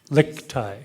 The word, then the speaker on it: Lichtig: Lichtig. The G is silent.